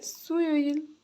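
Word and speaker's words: 수요일: अब बुधबारलाई चाहिँ के भन्छ त बुध बुधबारलाई सुयोइल सुयोइल सु यो इल सुइल बुदाहरुलाई के भन्दो रहेछ सुयोइल अब यहाँ उच्चारण लेख्दिन्छु।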